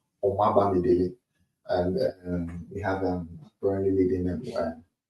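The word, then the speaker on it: Omobamidele: And I pronounce it, I'm Nigerian. So Omaba Midele.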